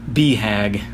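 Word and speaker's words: BHAG: should go look up big hairy audacious goal or beehag as it's pronounced primarily a business thing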